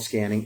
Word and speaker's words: SQANNING: that's it for today it's called scanning sqa ning it's referencing scanning the body looking for pockets of muscular tension spelled with a q just to be different